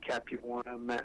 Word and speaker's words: Capuana: introduced himself and said, "My name is Mike Capuana, rhymes with marijuana," and he wanted me